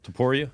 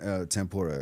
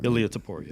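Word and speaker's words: Topuria: I always butcher it Toria yeah t i I end up saying tempora every time Toria yeah but uh the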